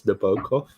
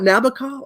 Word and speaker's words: Nabokov: It's Nabokov. God. It's not Nabokov.